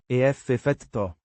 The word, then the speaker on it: effetto: Pronounced ef-fet-toh. with the stress on the. Fet.